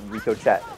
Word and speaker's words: Ricochet: Rico chat excuse you no R Ricochet no Rico chat that's how you pronounce it don't get his